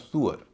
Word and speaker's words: sewer: जैसे SEWER, इसे हम सीवर कहते हैं, नियम से इसका उच्चारण होता है श्यूअर, लेकिन श्यूअर नहीं होता, इसका उच्चारण होता है सुअर, सुअर।